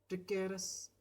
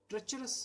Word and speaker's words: treacherous: Ready to fight a ट्रिकेरस enemy, वह एक बहादुर सिपाही की तरह तैयार थी ए ट्रेचरस एनिमी सॉरी, एक नमक हराम दुश्मन से लड़ने के लिए। TREACHEROUS, इसे ट्रेचरस प्रोनाउंस किया जाता है।